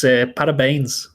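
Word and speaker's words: parabéns: It's parabines.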